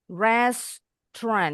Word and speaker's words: restaurant: Ini ada tiga suku kata. Restoran. Tapi bacanya bukan restaurant. Bacanya cuma dua suku kata.